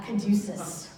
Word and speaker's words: caduceus: A caduceus.